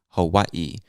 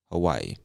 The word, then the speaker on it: Hawaii: list is hawaii hawaii i've heard many people from the islands of hawaii they pronounce it hawaii there's emphasis on that last eye hawaii but again most of us just say hawaii and hawaii is known